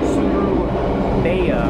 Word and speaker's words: Surabaya: But shouldn't be too much longer now, and we should be heading to Surabaya, apparently is how you say it, something like that.